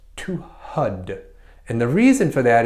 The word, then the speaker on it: Har: more closely pronounced to HUD and the reason for that is because when you say har what you do is you take the tip of your tongue and you touch the top of your palate so